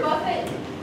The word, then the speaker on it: Buffett: the best cut Mr Buffet do you mind if I call you Jimmy sure great Jimmy it's pronounced Buffet what is the name